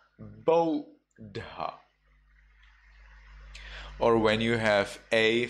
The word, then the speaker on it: Buddha: So when you have U followed by two consonants, U followed by DD, well then you read it instead of Buddha, you read it as Bodha.